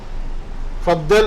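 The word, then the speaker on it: فضل: seated എന്നതിന് പറയുന്ന പദമാണ് ഫളൽ ഫളൽ ഫദൽ എന്നാണ് അത് പിന്നെ മലയാളത്തിൽ നമുക്ക് അങ്ങനെ എഴുതാൻ പറ്റുള്ളൂ ഫദൽ അല്ലെങ്കിൽ ഫളൽ എന്നാണ് സാധാരണ ശരിക്കുള്ള ഉത്തരം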